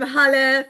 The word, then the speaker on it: Holly: I'm Holly, pronounced like hallelujah.